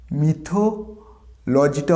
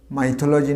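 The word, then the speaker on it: mythology: মিথ থেকে যদি ওয়ার্ডটা আসে কী হবে? মিথোলজিটা হবে লাজি, তাহলে উচ্চারণ হবে মিথোলজি, নট দ্য মাইথোলজি, না, মিথোলজি।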